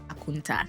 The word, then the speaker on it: Akonta: The funniest one for me is how we heard count for account and decided to call it aunta.